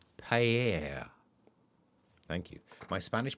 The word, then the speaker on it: paella: So, Joodle says, beautifully pronounced. Paella.